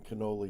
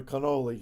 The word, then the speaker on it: Kenoly: His name is Ron Canoli. He's not Italian. It's not a cannoli. It's spelled Kenoly, and he's was amazing worship leader.